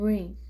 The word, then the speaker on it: rain: And AI in rain. So you pronounce A and I will be silent. So A, rain, rain.